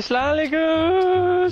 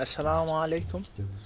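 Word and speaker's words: السلام عليكم: Say it properly. What would you mean, like, assalamu alaikum? Yeah, that's what I said, no? You didn't say that. No? No. What did I say? You said, salam alaikum.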